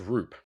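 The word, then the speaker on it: Roupp: We've got It's pronounced Roop. Oh, okay. Landon Roop.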